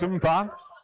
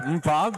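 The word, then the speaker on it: Mkpa: I cannot thank them enough for giving me a pronunciator for Umpa, and I hope I'm saying it right. His last name is spelled M-K-P-A. I would have never got that one.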